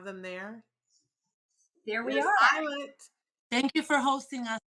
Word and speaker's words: Ayelet: Yes, let's talk with, are we pronouncing it correctly, first of all, Maagalim? So my name is Ayelet.